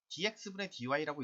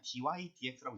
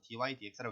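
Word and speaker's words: dy/dx: 보통 얘는 dx dy라고 읽기보다는 그냥 dy dx라고 읽어 버리거든요.이 분수 표현 읽지 않아요. 그래서 dy dx라고 읽는데 자 얘가 의미한게 뭐가 되겠다?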